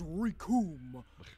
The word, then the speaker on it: Rikum: As Rikum was saying, the name's Rikum! It rhymes with doom, and you're gonna be hurting.